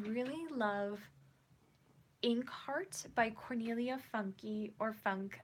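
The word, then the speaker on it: Funke: love Inkheart by cornelia funky or funk I pronounce it funky cuz it ends with an E and I know she's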